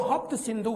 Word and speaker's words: हप्त सिंधु: फारसी साहित्यों में जो हप्त सिंधु है, उसी से ये कयास लगाया गया है। क्योंकि फारसी भाषा में स का प्रोनाउंसिएशन ह होता है, इसलिए माना गया कि